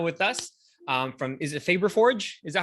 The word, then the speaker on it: Fabberforge: And in this 3D Printed Profits episode, I have Anna with us from, is it Fabberforge? Is that how you say it? Fabberforge.